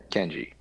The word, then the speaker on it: Kenji: But my name is spelled phonetically, two syllables, easy to pronounce, and just Ken and G, Kenji.